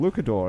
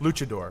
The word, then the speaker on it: luchador: Renzo is a filmmaker who's working on his second feature film, I Am Luchador. Is that how it's pronounced? Luchador.